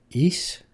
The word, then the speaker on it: Ys: East? East. Y-S. Oh. East. I pronounce that as yes.